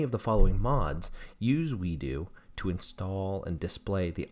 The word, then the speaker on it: WeiDU: to get something called the we do program it's spelled w-e-i-d-u program now we do is